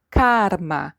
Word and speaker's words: karma: Can you feel the difference here as we pronounce in English and in Spanish? Karma. Yes, the R, ar.